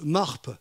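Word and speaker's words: מרפא: mot santé et bien il se prononce MARP en hébreu et il possède aussi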